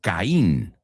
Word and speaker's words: Caín: So, those, that is your first word, Caín. Okay, Caín. Sí, veo que tiene el acento ahí sobre el estrés sobre la I, ¿no? So, it's Caín.